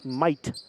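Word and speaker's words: Meudt: key this is lauren might a five foot nine inch sophomore spells her last name m-e-u-d-t but it's pronounced might as i was told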